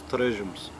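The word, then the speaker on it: torresmos: And how my grandmother pronounced it was Terresmos, or if you give the Portuguese touch to it, it's Terresmos.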